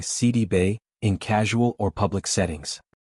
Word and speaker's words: Sidibe: She revealed that the accurate pronunciation of her last name is actually Si-dee-bay. This version reflects its Senegalese origins, a heritage tied to her family background that carries specific